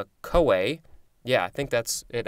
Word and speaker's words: CoA: synonym acetyl coenzyme a so the co is from coenzyme and then the a is a so it's kind of